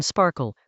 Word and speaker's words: SPARQL: It is an acronym for sparkle protocol and RDF query language pronounced sparkle. It predates cipher. And since cipher's pattern matching is borrowed from sparkle, they look quite similar.